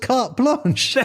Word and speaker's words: carte blanche: say that say it right yeah it's almost carte blanche yeah to do something with oh beautiful anyway